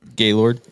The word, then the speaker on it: Gaylord: Gallard. Gallard. Gaylord. Yeah. Gayard. Yeah. How do you pronounce it? Gaylord.